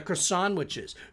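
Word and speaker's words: Croissan'wich: discs of the little tater tot discs and the croissantwiches. Croissantwich. It's pronounced croissantwich.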